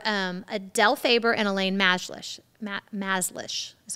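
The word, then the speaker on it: Mazlish: Maslish is how you say her name.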